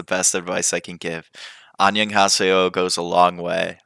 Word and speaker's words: annyeonghaseyo: Then you can say it with like it's one syllable, but it's Annyeonghaseyo.